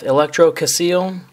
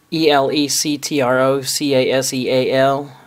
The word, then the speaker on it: Electrocaseal: user who calls himself Electrocaseal. Hopefully, I'm pronouncing that properly. It's ElectroCaseal. It looks like it would be pronounced Electrocaseal.